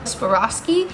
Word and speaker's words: Swarovski: i'm not going to say it right savas suaveroski suavrosky swarovski i clearly just outed myself as not a